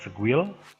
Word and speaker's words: Sguil: Part pertama adalah kita akan melakukan review menggunakan ini ya, SQL, bacanya Squil.